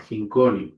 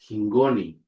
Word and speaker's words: hingoni: We also have this word, which is not hingoni. The pronunciation is hingoni, hingoni, meaning with, the preposition with, hingoni, hingoni.